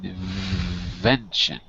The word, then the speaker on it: invention: wenon in with a with a V not a w not in wenin but in invention invention no invention you got